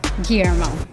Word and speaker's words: Guillermo: Guillermo.